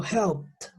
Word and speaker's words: helped: Es decir, que estas dos, la ed, se van a pronunciar como una T. En ese caso, yo no puedo decir helped, yo digo helped, helped. Después de la P voy a pronunciar una T.